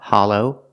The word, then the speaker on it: hollow: talk about Hollow pronunciation we use the sound a ha Hollow the short a sound like stop and hot ha Hollow the second syllable is a long o like go and no together hollow hollow is